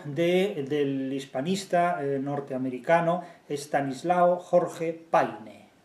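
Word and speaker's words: Payne: Posteriormente todavía se publica el libro del hispanista norteamericano Estanislao Jorge Paine. Yo lo pronuncio literalmente porque me da la gana de hacerlo así.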